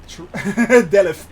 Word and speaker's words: Delft: You do not pronounce the T. Alright, guys. I am... Delft, exactly.